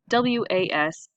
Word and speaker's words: was: was now reason why a lot of people spell it w uz which is not correct just because that's how it sounds but we say W a s was so that's why it's